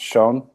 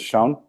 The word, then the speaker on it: Sjón: think the first step with this so it's pronounced shown the author's name is shown not sure okay let's mess it up the